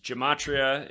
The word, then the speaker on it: Gematria: website it's Gematria effect.news Gematria is spelled like Jim g-e-m and then a t r i a Gematria effect with a